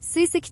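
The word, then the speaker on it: 水石: 今日は、水の石と書いて、水石という石を飾る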